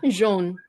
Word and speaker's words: jaune: But AU is also pronounced O in French. Oh, so Yeah. jaune. So which is why you say jaune. Jaune. O, Jaune. O, Oh, jaune. jaune.